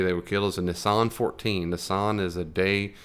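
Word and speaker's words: Nisan: And their month called Nissan, like Nissan the car, but it's spelled it's N I S. There's only one S.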